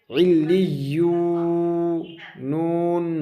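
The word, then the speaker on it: عِلِّيُّونَ: या वाव पेश यू, इल्लियू, नून ज़बरना, इल्लियूना। ठीक है, ये हिज्जे पढ़ने का तरीका है, क्योंकि जिस हरफ में तशदीद रहेगा उसे दो बार पढ़ना पड़ेगा, डबल पढ़ना पड़ेगा।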